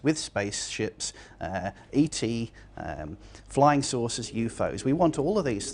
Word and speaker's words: UFO: UFOs stands for unidentified flying objects, things from outer space that fly through the sky.